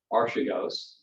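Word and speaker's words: Archegos: fund company called and many people pronounce this different ways but let's just say archigos uh was uh caught in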